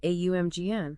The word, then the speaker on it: AUMGN: For instance, he alters the primordial starting syllable from Om to AUMGN. Right, AUMGN.